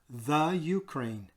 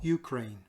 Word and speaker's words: Ukraine: Okay, it's not the Ukraine. It is simply Ukraine. Like you don't say the Australia or the Canada. It is Ukraine.